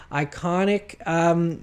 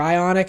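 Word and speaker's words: Ioniq: Another thing that is debuting at Geneva is Hyundai's rolling out the new Iconic vehicles, or Ionic, I guess I should say.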